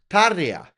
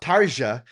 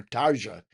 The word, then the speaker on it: Tarja: That is how I learned how to pronounce Tarja. It's not Tarja, it's Tarja. Right? Because she said it herself and the weird thing is the interviewer kept calling her Tarja even though she said, "Hello, I'm Tarja."